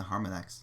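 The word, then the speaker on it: Harmonix: I say right no Harmon X Harmon x w like Harmony but with a x on the end Harmon X said Studio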